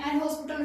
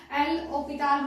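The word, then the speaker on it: L'Hôpital: एल हॉस्पिटल rule को ही कुछ लोग जो है एल ऑपिटाल रूल बोलते हैं, वो प्रोनाउंसिएशन का कमाल है और कुछ नहीं है।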